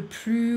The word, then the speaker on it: plus: Don't pronounce the S. Le plus ou la moins belle.